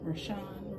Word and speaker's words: Richon: my name is r-i-c-h-o-n rashaan richard that's why my name is spelled kind of weird and they you know